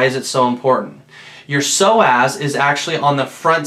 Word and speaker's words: psoas: you're hearing is actually a muscle called your soaz it's spelled PS o a s it's your hip flexor